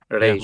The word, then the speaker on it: Reis: Royce. I always say Mateus Royce. Is that Reis. correct? Oh, Reis. Reis. Reis. I say Royce. I will see Yeah. Reis. Talking about the pronunciation is Reis.